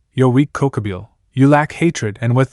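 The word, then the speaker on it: Kokabiel: "Cookabil, it's Cocoabil."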